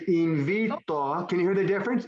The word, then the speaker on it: invitó: And it'd be the accent on the O. No. Invitó. Here we go. Invitó. Invitó. Invitó. So does my voice go up there?